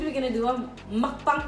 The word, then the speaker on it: mukbang: So as Aiden said, we're gonna do a mukbang.